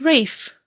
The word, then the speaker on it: Ralph: It's Rafe. It's a very British name, but spelled Ralph.